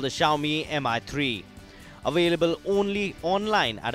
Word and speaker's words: Xiaomi: Xiaomi. It's pronounced as Xiaomi, written with an X.